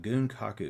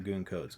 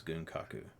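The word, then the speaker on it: 軍拡: didn't recognize it it's uh goon kaku it is not gunko codes gunkaku all right so gunkaku is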